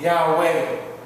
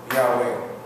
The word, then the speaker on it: Yahweh: So they put Yahweh. Yahweh. But that is just a means so we could pronounce the name.